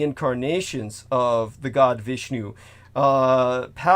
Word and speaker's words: Parashurama: of the god Vishnu, Parasurama, or how do I pronounce that correctly? Parashurama? That he was this ancient. Say that again. Parasurma. Okay.